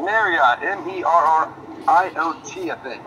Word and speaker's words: Merriott: Merriott, pronounced like the hotel. Merriott, M-E-R-R-I-O-T, I think, right?